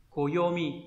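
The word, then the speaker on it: 暦: Âm khương yomi đọc là koyomi, đúng nhỉ?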